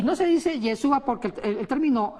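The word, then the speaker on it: ישוע: ¿Cómo se dice? Yeshua. O Yeshua, ¿cómo Estamos se ahí. pronuncia? Yeshua. Yeshua.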